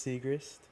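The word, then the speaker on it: Siegrist: You said her last name right. Huh? Pretty sure it's Segrist. Segrist.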